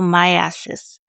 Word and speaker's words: myiasis: So, myiasis. So, I'm going to spell it for you.